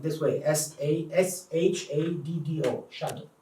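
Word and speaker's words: shaddo: Shadow. Shadow. And it rhymes in the passage. It rhymes with lado, which is lad and lado, like decon is deco, Yeah.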